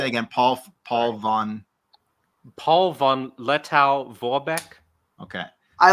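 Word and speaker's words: Paul von Lettow-Vorbeck: Paul von Lettow Vorbeck.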